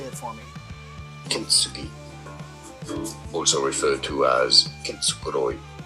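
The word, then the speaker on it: kintsugi: Kinsugi, who also referred to as English pronunciation, Kenugi.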